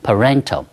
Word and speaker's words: parental: 它的重音 falls on the second syllable。调到了第二个音节地方，念成了 parental，所以英文一开始的发音就很困难。